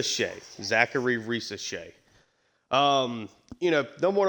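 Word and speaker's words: Zaccharie Risacher: me up for whatever reason Zary R Shay Zachary R Shay um you know number one overall pick uh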